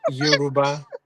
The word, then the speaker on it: Yoruba: Yeah, Yoruba.